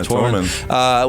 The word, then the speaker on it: Tormund: Yeah, Tormund.